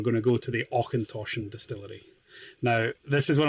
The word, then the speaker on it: Auchentoshan: I had to laugh at him, and then I had to remind him he's from Scotland and should know that it's Auchentoshan.